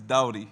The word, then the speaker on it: Doughty: Did I say your name right, bro? It's Doughty.